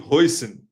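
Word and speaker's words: Huijsen: I don't know who is Hussein is Dean Hoyson. I just used to pronounce him as Hussein. Look, I thought that Jay was silent.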